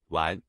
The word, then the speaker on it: 丸: In today's video, we'll teach you the Chinese character for pill pronunciation. Wan.